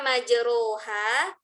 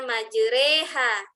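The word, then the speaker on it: مجراها: kharibul Quran waribul Quran itu tulisan lain cara membacanya lain tulisannya majeroha cara membacanya majereha Padahal dia berharakat fathah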